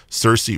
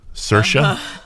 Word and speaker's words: Saoirse: and it stars and I normally get her name wrong she's got such a beautiful name Cersei Ronan is that Saoirse Saoirse Saoirse Ronan is that right okay beautiful name